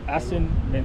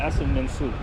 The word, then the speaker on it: Assin Manso: uh uh ason men I think I said that right yeah as uh Asin menu you can Google it it's spelled uh a s s i n m e NS o as Manu that's the place where